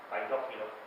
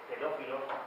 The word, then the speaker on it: paidófilo: Aquí quiero aclarar cuando habéis oito pronunciar paidófilos, es que creo que pedófilos, aparte que suena muy mal, no es correcto. La palabra paidófilo viene de el que es amante de los niños, paidó en griego, pero por traducción del francés pronuncia la i, pronuncia e, pues le ha puesto pedófilos.